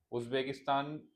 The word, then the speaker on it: उज़्बेकिस्तान: उज़्बेकिस्तान को ठीक से प्रोनाउंस उज्बेकिस्तान।